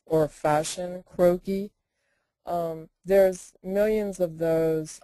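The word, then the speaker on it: croquis: in the question box um can you spell croaky again and then pronounce it again yes croaky is spelled c r o q like Queen u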